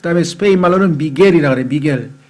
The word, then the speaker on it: Miguel: 미겔. 근데 그 미겔을 또 스페인 말로는 MIGUEL이니까 한국 사람들은 그 GUE가 겔로 발음을 해야 되는데 한국식으로 미구엘이라는 사람들도 미구엘.